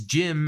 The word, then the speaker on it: GM: we're talking about but the other idea here is jim as kind of slang i like that i really do like that i like that idea as in english even if gm is correct jim is just a cool slang because it really does